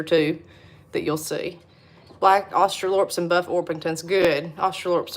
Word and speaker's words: Australorp: You're supposed to say Australorp, but we call them Australops down here. So I don't know if people say Australops or Australorps, but I know it's spelled Australorp, but we say Australops.